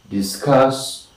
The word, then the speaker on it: discuss: The most important syllable is of course the second one. We say disarm, disband, discuss, disdain, dismay, disturb, disgrace, and disguise. So also we say distract.